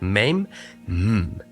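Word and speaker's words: מם: on the shape the letter mem is pronounced as M okay it's the M sound maim now maim has two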